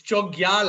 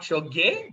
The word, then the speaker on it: Chogyal: It's Chogyal actually, not Choge, but I'll give it to you.